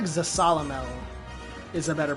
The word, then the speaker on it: Zasalamel: no there was another I should find first zasalamel he taught me how to become strong enough